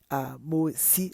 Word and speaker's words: Mossi: but we are doing a tribe, particular tribe, Mosi tribe. It's Mosi, it's MOSSI, and sometimes they tend to spell it MOORE or MORE or MOSHI instead of E.